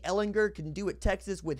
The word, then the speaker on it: Ehlinger: all the things that Sam hard G Ellinger can do at Texas